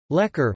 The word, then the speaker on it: lekor: Lekor, Malay pronunciation, lekor, keropok lekor, Malay pronunciation, kropo lekor,